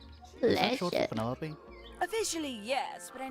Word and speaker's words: Penelope: Penelope? Officially, yes, but I never can be bothered with all 4 syllables of it.